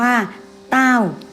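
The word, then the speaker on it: 道: เกิด จาก จิต ใจ คำ ว่า ธรรมะ ภาษา จีน อ่าน ว่า เต้า เป็น นาม สมมติ ก็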